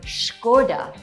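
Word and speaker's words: Škoda: Well there's a "hidden" h in there, so say Shko-Dah instead.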